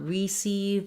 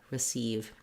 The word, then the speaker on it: receive: word in these cases it doesn't say the tense e sound it says the if sound so not between but rather between and not receive but rather re receive so this is because